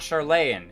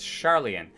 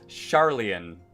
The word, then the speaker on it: Charlien: goals may be achieved it's not charlayan it's charlien i'm pretty sure the developers of this game specifically invented a way for you to mispronounce every single name and just to make sure that there's no way that i would say it correctly the first time charlien like a a charlatan but charlien i have the utmost